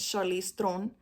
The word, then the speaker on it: Charlize Theron: Like Charlize Theron, because that's how you really say her name, is Charlize Theron.